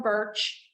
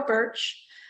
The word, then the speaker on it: Bertsch: So it's the law office of Birch, like the tree it sounds, but it's not spelled like that. It's BERTCH, BERTSCH. Yeah, so it's Birch.